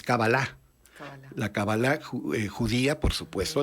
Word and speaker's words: cábala: años estudiando la cábala que la pronunciamos como sirvan el término esdrújulo pero es éxito no es decir agudo es cábala la cábala judía por